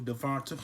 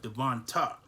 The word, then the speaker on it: DeVonta: trophy winner wide receiver devonta smith who i had who i had the pleasure of mispronouncing this name as i was devon t but devonta with an a at the end um in round one